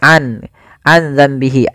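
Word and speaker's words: عَنْ ذَنْبِهِ: Karena di sini nun mati ketemu zal, awalnya an zambihi, awalnya an zambihi ya. Karena dia apa namanya? nun mati bertemu dengan zal yang mana zal termasuk huruf ikhfa, maka suara nunnya samarkan ke makhraj huruf zal. Maka aza sembari ditahan suara dengungannya sepanjang 2 harokat.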